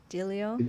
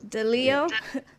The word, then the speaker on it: Delio: say his name right dilio uh frank deleo deleo the emphasis is on the leo frank deleo said a